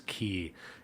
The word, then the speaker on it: quay: regional pronunciation thing but I was pronouncing quay my whole life and someone said actually it's key and they tried to